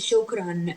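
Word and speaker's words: شكراً: So we pronounce it not just shokra, we pronounce it shukran. We add noon because there are two fatha.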